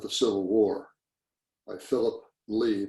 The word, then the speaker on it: Leigh: Civil War, by Philip Lee. My last name is spelled L-E-I-G-H.